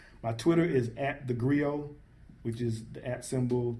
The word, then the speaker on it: griot: So you got that T there. Yeah. But it's not really pronounced.